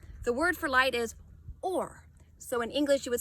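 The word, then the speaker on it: אור: When we look at the word light in Hebrew, the word for light is or. So in English you would spell it O-R.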